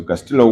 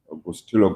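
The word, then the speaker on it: Gustilo: So gastillo one fracture of the second metacoup and gastillo gustillo gastillo depends on where you come from.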